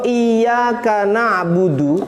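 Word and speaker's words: إِيَّاكَ نَعْبُدُ: nyembah sobito mananya begitu bacanya juga harus jelas iya Kak harus ada tasydidnya Makanya Fatihah ini termasuk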